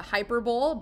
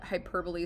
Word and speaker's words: hyperbole: go Mike you might hear it as a hyperbole but hyperbole is technically the correct way to pronounce it so why hyperbole is an exaggeration